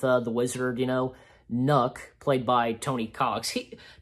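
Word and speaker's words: Knuck: so my name is nook so i think it's pronounced nook yeah nook and even martin uh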